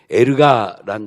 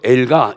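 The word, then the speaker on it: ἔργα: 그 일반적인 단어가 원어로 보면 에르가라는 단어요. 다 같이 한번 따라합시다. 에르가.이 에르가를 또 엘가 이렇게도 또 발음하죠.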